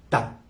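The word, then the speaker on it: Ptah: Los egipcios le llamaron Ta, se escribe P-T-A-H, Ta.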